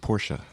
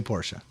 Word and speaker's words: Porsche: It's Dr. Ferdinand Porsche. Okay. Named it after himself. But a lot of people say Porsche. Yeah, it's bad. So, you say Porsche?